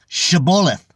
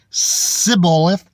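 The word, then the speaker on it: shibboleth: said they unto them say now shabbolith and he said if he said Sybil if with the S instead of shh just like truth truth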